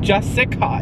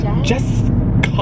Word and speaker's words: Jessica: My name is not Jessica. It's Jessica.